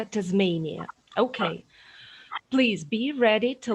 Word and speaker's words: Tasmania: Вимовляється Tasmania.